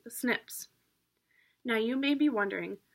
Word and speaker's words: SNPs: to be replaced by snps which are pronounced snips now you may be